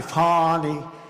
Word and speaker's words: Fani: F-A-N-I, Fani. You have to pronounce it Fani. It's called Fanny. You have to pronounce Fani. I don't know how she gets. She should add a little U in there someplace if she wants people to call her.